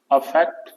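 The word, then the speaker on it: affect: अगर हम बात करें तो अफेक्ट का प्रोनाउंसिएशन होता है अफेक्ट, कुछ इस तरह से, और इफेक्ट का प्रोनाउंसिएशन होता है इफेक्ट, इस तरह से।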